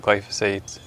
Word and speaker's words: glyphosate: So if you don't mind, I wanted to ask you about, okay, so you talked about glyphosates.